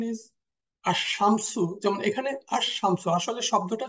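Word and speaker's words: الشمس: the correct pronunciation is আস শামসু যেমন এখানে আসমসু আসলে শব্দটা ছিল শামসুন এর আগে আল বসার কারণে আর প্রোনাউন্সিয়েশন টা হচ্ছে আশামসু এখানে লাম অমিট হয়ে যাচ্ছে লামের উচ্চারণটা এই যে যে সমস্ত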